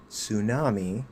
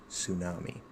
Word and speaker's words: tsunami: Exception is the word tsunami borrowed from Japanese. And that's if we use the Japanese pronunciation instead of saying tsunami which we usually do.